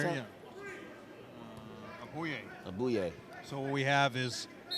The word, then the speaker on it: Aboye: How you pronounce Everybody, that? yeah. Abuye.